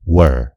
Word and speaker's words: were: र यो शब्दको उच्चारण पनि याद गर्नुस्, यो were हैन, यो हो were। W-E-A-R, where, where भनेको लाउनु। W-E-R-E, were, were भनेको थिएँ, थियौं इत्यादि।